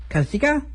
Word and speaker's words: Kazuchika: And finally, Rainmaker Kazuchika, because apparently you don't pronounce the U. If Asuka and Shinsuke Nakamura taught me anything, you don't pronounce the U in Japanese, at least in Japanese names.